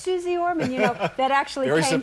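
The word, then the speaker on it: Suze Orman: Well, it's not so much misspelled, it's that it's mispronounced. Everybody goes, Suze Ormond, or whatever. And I'm like, going, it's Suze Ormond.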